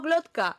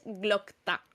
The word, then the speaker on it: Glokta: Yo digo Glotka, sí, no es Glokta.